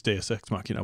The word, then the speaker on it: deus ex machina: really know it's days do we really know yes I know for a fact it's deus ex machina welcome to the pronunciation you take French class in high school that's Latin thank you very much